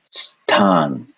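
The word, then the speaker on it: स्तान: This is a s followed by ta. So this will be pronounced stan, stan, stan, stan, stan.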